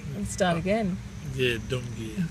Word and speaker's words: Gumbaynggiirr: Yeah, Gumbaynggiirr. Gumbaynggiirr.